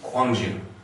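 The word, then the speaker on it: Gwangju: sort of mention it one example of this is the city kwangjun okay which used to be spelled with a k and then around the time of the world cup they changed it to the spelling okay it used to be a k now it's a g just kind of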